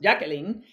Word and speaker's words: Jacqueline: is not super Spanish, even though I'm Puerto Rico, it's pronounced Jacqueline.